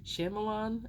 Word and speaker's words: Shyamalan: That's what I always like to call him because I can never pronounce his last name. Shyamalan, I think is how you say it.